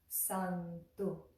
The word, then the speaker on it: Santu: Santu, easy. We just bring that tongue in the same place for the da. Santu, Santu, Santu. The tongue is on the back of the teeth, the front teeth.